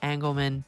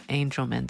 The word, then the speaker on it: Angelman: this pulse episode but I mispronounced Angelman syndrome I know better for whatever reason when we were recording I said angleman it's not that it's Angelman syndrome so just be aware